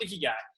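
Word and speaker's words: ikigai: guy it's I Ki G AI but it's pronounced iy guy what it is basically is a purpose they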